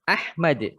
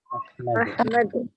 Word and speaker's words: أحمد: أحمد Nah, mimnya tidak usah dipanjangkan. Ahmad. Ahmad.